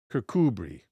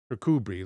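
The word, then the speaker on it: Kirkcudbright: For the last several centuries at least they seem I'm sorry they have remained deserted and even before that kubri thank you pronunciation on kudbrite kubri let me see if I can uh reassemble that pronunciation if I can find the bird.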